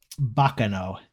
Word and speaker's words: Baccano: been my ringtone for years how do you spell that what did you say the name of it was baccano b-a-c-c-a-n-o it's italian for uh noise basically maybe